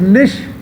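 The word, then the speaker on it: niche: वैसे इसे निश बोलते हैं, कुछ लोग इसे निके बोलते हैं, कुछ लोग नीचे बोलते हैं, आपको जो भी बोलना है बोलिए। मैं इसे निके बोल रहा हूँ क्योंकि प्रोनाउंसिएशन में मुझे आसानी हो जाती है।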